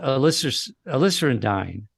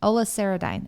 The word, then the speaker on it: Oliceridine: And it's called aliceridine. It's called, And let me see if that's aliceridine, Oliceridine. It's spelled, let me just spell it okay. for everybody. It's Oliceridine.